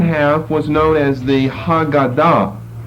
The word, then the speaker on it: Haggadah: then the second half was known as the hagada h-a-g-g -a-d-a-h which comes from the verb who God oh